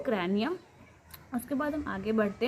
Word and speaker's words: cranium: Protected by bony box इन the skull called कर्नियम। जो मेरी pronunciation में उसमें थोड़ी सी प्रॉब्लम होगी, जिसे मैंने पहले ही बता दिया है। तो कैर्नियम CRANIUM, क्रैनियम, क्रैनियम जो भी आप बोल सकते हैं इसको।